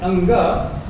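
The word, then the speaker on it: ङ: कवर्ग का जो अंतिम अक्षर है अंग, बच्चों आप लोग उसे बहुत बार गलत बोलते हो, उसको अड़ा बोलते हो, वो गलत उच्चारण है। हमने अंगा बोलना है।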